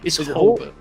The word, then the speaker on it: Hulbert: It's Hulbert. Hulbert. Yeah. Hulbert. Hole is its own thing.